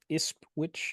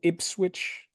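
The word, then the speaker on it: Ipswich: game is against iswi am I saying that right iswitch yeah yeah sorry ipswitch y I'll let you I'll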